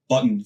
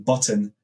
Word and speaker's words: button: know my accent normally I have a tendency not to pronounce T's so for button for example instead of saying button I say button and that's the same